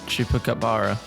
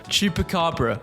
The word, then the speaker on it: Chupacabra: Chupacabara. Chap. I have literally got a pronunciation on my other monitor. Hold on. Chuka. Oh my god, this is bad. Chupacabra.